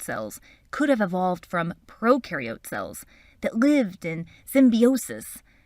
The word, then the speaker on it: prokaryote: cells video when you think of prokaryote think of pro rhyming with no no nucleus no membrane-bound organelles